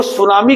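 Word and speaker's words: tsunami: अंग्रेजी में देखो इसकी स्पेलिंग अगर नहीं तुम देखोगे तो टी नहीं लगाओगे। टी साइलेंट है इसमें। देखो सुनामी का मतलब सु मतलब होता है तट बंदरगाह।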